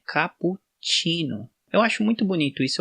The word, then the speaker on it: cappuccino: 26 ali né e ele tem esse som de tx tsh chino né capo chino eu acho muito bonito